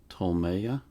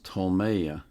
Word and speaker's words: Ptolemaea: I can pronounce this it's spelled PT o l m a ea I think it's TOA I want to read